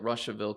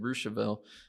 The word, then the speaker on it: Russiaville: live in russiaville indiana it looks like russiaville to you but we pronounced it rousseville i learned when we